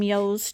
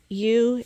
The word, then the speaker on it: ewe: and whatever but anyway you is the correct way to pronounce ewe which is a female sheep little lambies are you